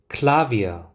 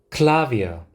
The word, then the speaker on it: Klavier: 그 다음 Klavier, Klavier.